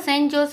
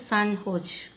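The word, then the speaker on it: San Jose: recently the सेंट जोस pronounce सन होज, recently ये सेंट जोस है ना स्टूडेंट, इसको प्रोनाउंस कैसे बोलते हैं, सन होज बोलते हैं इसको, सेंट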